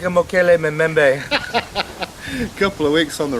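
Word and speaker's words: Mokele-mbembe: He smells like a Mokele Memembe.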